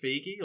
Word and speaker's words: Feig: Is it Feige or Feig? Feig.